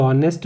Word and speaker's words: honest: ठीक है ना, ये तो गलत हो जाएगा क्योंकि प्रोनाउंसिएशन ही ऑनेस्ट हो रहा है। तो ध्यान रखिए, जब भी एच के बाद में, जब भी एच के बाद में ओ आता है, एच के बाद में ओ, तो हम एच को साइलेंट करके ओ से पढ़ना शुरू करते हैं।